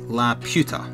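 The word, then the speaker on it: Laputa: Except, I think, La Puta, which is pronounced La Puta.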